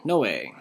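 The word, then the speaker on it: Νῶε: Hopefully you said this one, Noe. Nu omega epsilon, Noe.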